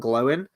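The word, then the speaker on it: Glóin: Kurt the Gamer says, maybe you go the whole hog and redub Oin and Gloin in the way that Tolkien actually pronounced them. Owen and Glowin.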